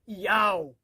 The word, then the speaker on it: Yahweh: O nome do Pai, e é do hebraico, Yod, Re, Vav, Re, o qual aparece 6.828 vezes nos originais hebraicos, transliterado para YHWH, pronunciado por Yahweh, foi substituído por Roma pela palavra Senhor.